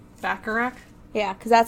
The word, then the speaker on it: Bacharach: I think it's Bacharach. Bacharach?